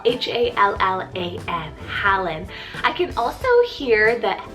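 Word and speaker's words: Hallan: pal i have the name helen spell h-a-l-l-a-n helen i can also hear that alan in there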